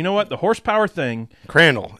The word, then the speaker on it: Crandall: Crandall. It rhymes with candle.